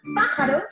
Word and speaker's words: pájaro: En la palabra pájaro, la sílaba tónica es pa, mientras que las otras dos son las sílabas átonas.